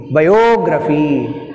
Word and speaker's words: biography: కొరియోగ్రఫీ, జియోగ్రఫీ, biography, choreography, all these are words take stress on the anti-penultimate syllable means the third syllable from the end.